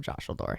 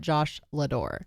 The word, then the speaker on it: Joshaldor: And that's the story of Joshaldor. And it's not Josh Lador. No, it's one word. Joshaldor. It's like Dumbledore, except remove the dumb and put Josh in there instead.